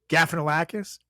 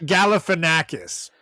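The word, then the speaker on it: Galifianakis: getting closer gaus yeah there is an l sound in there a little earlier Gaffin lakis gaff how do you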